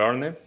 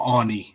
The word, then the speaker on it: Arne: No, I think that we've been doing a fantastic job under Arne. I think that he's bringing the best of these players. Slot, not Arnie. It's not Arnie. It's Arn. That's how you pronounce it.